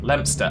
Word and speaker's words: Leominster: Yeah, Leominster is pronounced Lempster.